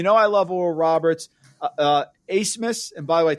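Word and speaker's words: Abmas: Asmus, and by the way, it took me 3 weeks to pronounce his name. Max Asmus, A-B-M-A-S is like Asmus. That's the way he pronounces it.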